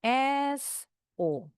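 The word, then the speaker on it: saw: Yang terakhir W-nya enggak bunyi. Jadi bacanya cuma s O.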